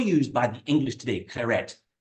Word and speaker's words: Claret: confusing French language so Claret is c l a r e t Claret and we pronounce the T and that's an English